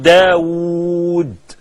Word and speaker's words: داود: ما هو س داوود احنا بنكب بواو واحده وهي بتتنطق او بالاصل تتنطق بثنين واو لما تقول داوود د الف و وو دال طاووس ط اف و وو س ها لكن احح بيكتبها داوود طاوس بواو واحده قال ده عمرو ده